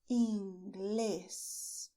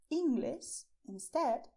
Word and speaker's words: Inglés: And the way to pronounce is stressing Inglés. Why is this important? Because if you do not stress inglés, if you say English instead, you are not saying